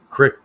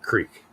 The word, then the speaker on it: creek: But it's spelled Creek, um, and there's just something in my brain that won't allow me to pronounce it that way.